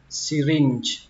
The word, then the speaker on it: syringe: Ống tiêm thì các bạn đọc là syringe, syringe, âm chờ cuối cũng là âm chờ nhẹ, nó không bắn hơi nhiều mà thậm chí nó không bắn, nó chỉ rung, syringe, syringe.